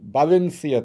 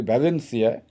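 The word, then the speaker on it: Valencia: আলবারে সে এসেছে স্পেনের বাঞেনসিয়া থেকে আমরা হয়তো উচ্চারণ করি ভ্যালেন্সিয়া কিন্তু স্প্যানিশের বি এর উচ্চারণটা বি এর মতই আচ্ছা বাসিয়া থেকে এক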